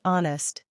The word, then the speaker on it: honest: our honest and ghost for example our is pronounced our honest becomes honest ghost becomes ghost here's a fun fact silent